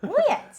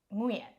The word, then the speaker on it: Nguyen: Nguyens.